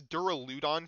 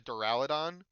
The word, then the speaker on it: Duraludon: Also, I pronounced this Duraludon for the longest time until I watched the anime and Ryhan had a Deraladon and it blew my mind.